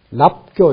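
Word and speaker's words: 納交: 소위 위, 인, 개유, 불인인지 심자, 금, 인, 사견, 유자, 장입, 어정, 개, 유, 출척, 척, 은지심, 비, 소이, 납교, 요거 납이라고 읽는 겁니다.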